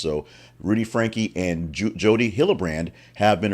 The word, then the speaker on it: Franke: her name it is Frankie the E is pronounced so Rudy Frankie and Jody hillebrand have